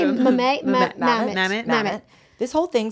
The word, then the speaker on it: Mamet: Mamet.